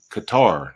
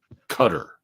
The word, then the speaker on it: Qatar: the area the region it's Qatar not not cutter because cutter rhymes with gutter so don't do that